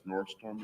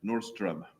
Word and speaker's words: Nordström: From my American friends, that's Nordstrom, like the chain store. Yeah. What is the correct pronunciation? Nordström.